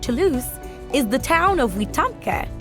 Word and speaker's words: Wetumpka: Near current-day Fort Toulouse is the town of Wetumpka, Weedumga, which in the Muskogee language means rumbling waters.